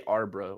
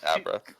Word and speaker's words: Abra: legit, you are not the first person to say Arbra. Like, what the Arbra? I meant Abra.